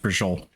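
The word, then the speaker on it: braciole: It's beef braccioli. That's how it's spelled. That's pronounced brajol.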